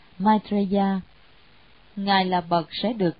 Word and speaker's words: Maitreya: Di Lặc Bồ Tát, tiếng Ấn Độ đọc là Maitreya.